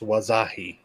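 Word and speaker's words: Wahzhazhe: way Tony um indigenous person right here it's pronounced wasahi oh yeah I knew I knew I knew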